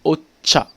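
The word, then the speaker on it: お茶: dis c'est alors là ça s'écrit en roamad jch il va se prononcer comme s'il y avait un thé devant un peu comme dans la république tchèque vous voyez ça se passe bien tu veux on le retrouve dans les mots comme hôte à août hamaguchi voyons dit pas aux chats ont dit ocha vous voyez la petite nuance voilà pour le ti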